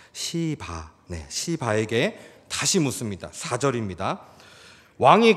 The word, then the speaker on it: 시바: 다윗이이 시바에게 다시 묻습니다 여러분이 발음을 잘 하셔야 됩니다 시바네 시바 경상도 엑센트가 앞에 있는데이 실을 세게 발음하시면 큰일납니다 오해받습니다네 제가 표준어로 해드리겠습니다 시바 시바에게 다시 묻습니다 4절입니다